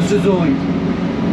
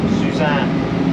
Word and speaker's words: Suzanne: Yeah, would you call it the Suzanne or the Suzoin? Suzanne. Yeah, it's spelled Suzanne. Yes. But some of the boys out of Coburg call it the Suzoin. Yes. I'm going fishing at the Suzoin.